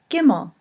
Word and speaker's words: gimel: letter is the letter gimel and it is pronounced with a hard G good the fourth letter